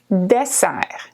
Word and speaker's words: dessert: a plane principal dessert dessert in French is a desire okay desire desire okay the T at the end is silent and we often have